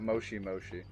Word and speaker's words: moshi moshi: them say that on anime see how you pronounce that moshi moshi yeah the thing with japanese is that they